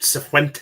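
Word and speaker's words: Cifuentes: at Sephuentes, isn't it? That's how you pronounce it.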